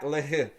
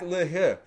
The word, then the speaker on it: L'Heureux: And let's take a look at Zach LaHaye. So let's get right into it. So yes, that is how you pronounce his name.